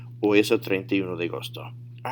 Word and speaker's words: agosto: Notice, it's not said Augusto. That would be your English training coming into effect and causing a bias when you pronounce. So really focus on these words and how they sound, and you got to make sure it's agosto.